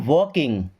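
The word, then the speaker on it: walking: Okay, I एम वॉकिंग, I means मैं, M means हूँ, वॉकिंग देखिए यहाँ भी एल साइलेंट, देखिए जैसे टॉक वॉक तो यहाँ पे एल साइलेंट।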